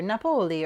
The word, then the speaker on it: Napoli: but that it was, you know, the second syllable is what you emphasize. So Tripoli or Napoli or, you know, whatever like that is.